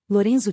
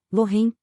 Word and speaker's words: Lorenzo: foi um prazer conhecê-lo louren tentei repetir o nome dele mas empaquei na segunda sílaba ele enrolar ao R de um jeito que minha língua se recusava a fazer Desculpa não consigo pronunciar